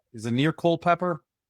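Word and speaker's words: Culpeper: Uh what's not is it near Cole Pepper? Pretty Yeah, about an hour. Yeah, about an hour. Our our Google maps pronounces that. Co Pepper.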